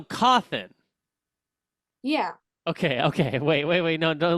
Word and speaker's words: Cawthon: It's C-A-W. Oh, CAWTH. T-H-O-N. Oh, so Cothin.